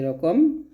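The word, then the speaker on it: ر: তারপর দেখুন রটা কিন্তু মোটা হবে, যে অক্ষরগুলো মোটা হবে সেগুলো কিন্তু উপরে লেখা আছে মোটা হবে। তো রটা অবশ্যই মোটা করে উচ্চারণ করতে হবে। উচ্চারণটা হচ্ছে জিহ্বার আগার উল্টা পিঠটা উপর তলাসন লাগবে। আমি যা যা বলতেছি প্রত্যেকটা বিষয় আপনারা চেষ্টা করবেন খাতার মধ্যে নোট করে রাখতে। তো এটা হবে র, র, এরকম।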